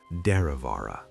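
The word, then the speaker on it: Derravaragh: Lake Deravara. Say it slowly. Let the syllables roll like water over smooth rock. Draavara.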